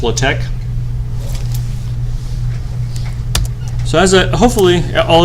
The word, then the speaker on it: LaTeX: to use something called latech have maybe I'll used latech before besides Jonah latech it's spelled latex but pronounced low-tech so as I hopefully